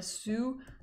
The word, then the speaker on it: sou: Okay, you would pronounce it a sou.